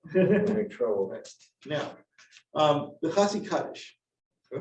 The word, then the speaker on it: Chatzi Kaddish: Now, the Chatzi Kaddish, or Chatzi Kaddish is the proper pronunciation.